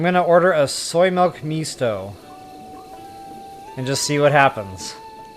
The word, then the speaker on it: Misto: Oh, I read that as Maestro. Jeepers. Misto. Misto. I'm terrible with pronunciation. I'm just going to show them my cell phone. I'll type it in first. But I think it's pronounced... Mistro?